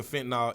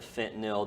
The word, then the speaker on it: fentanyl: addicted to, I guess like pills basically, and then they have the fentanyl in the pills.